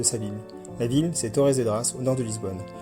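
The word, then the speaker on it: Torres Vedras: La ville c'est Torzed Dras au nord de Lisbonne. En portugais ça se prononce Torche Vedch.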